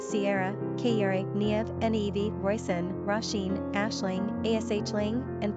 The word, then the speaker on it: Niamh: Currently on Ireland's top 50 list are names like Kiva, pronounced Keva, Saoirse, Saoirse, Sierra, Kayere, Niamh, Nevi, Roisin, Roisin, Aisling, Ashling, and Clodagh, Clodagh.